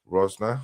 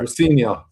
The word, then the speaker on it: Rosenior: Uh Chelsea have hired a new manager and Liam Rosner. I think I got that one right. Rosenior. Rosior. Is that how you pronounce it?